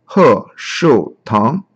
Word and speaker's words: Heshoutang: So the logo pronounces as He Shu Tang.